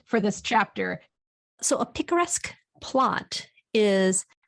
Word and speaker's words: picaresque: I had never known what a picturesque plot was. I think it's picaresque.